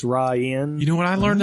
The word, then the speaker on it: Rainn: It does look like it's rain, but it's Ryan.